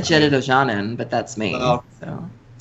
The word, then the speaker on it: Jedit Ojanen: so that you can't actually run the original Jedit Ojanen. Is that how you pronounce it? That's how I pronounce it. Well, I always said Jedit Ojanen, but that's me.